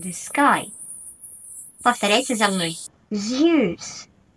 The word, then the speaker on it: Zeus: Сегодня обсудим с вами пантеон греческих богов и поработаем над произношением. Let's go! Начнем с трех главных богов. Зевс, Посейдон, Аид. Zeus, the god of the sky. Повторяйте за мной. Zeus, Zeus.